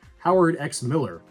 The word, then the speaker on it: Howard X Miller: Howard X Miller. Yes, you pronounce the X.